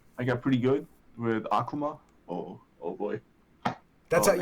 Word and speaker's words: Akuma: and 3 yeah I got pretty good with aqua ma oh oh boy that's it yeah you say Akuma yeah ok I say it correctly probably but